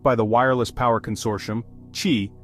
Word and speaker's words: Qi: That's where the Qi standard comes in. Developed by the Wireless Power Consortium, Qi, pronounced Qi, is the most widely adopted universal standard for wireless charging.